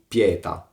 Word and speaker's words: pièta: To be read 'pièta' in rhyme with 'pianèta'. and 'quèta'.